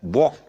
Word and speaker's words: walk: not island it is island okay the s is silent as yeah walk and talk walk walk to talk okay there's